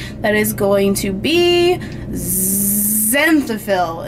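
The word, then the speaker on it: xanthophyll: is going to be zenil it's spelled with an X I love that word why is it spelled with an X it's like zyo process in bones and then if you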